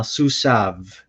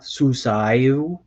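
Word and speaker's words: סוּסָיו: i would say uh suzav so the pronunciation is a little bit tricky here because the yod here is technically silent so it's not suici that's weird you would say susan and some of in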